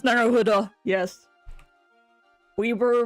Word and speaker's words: Naruhodo: So this is how it's pronounced, Naruhodo.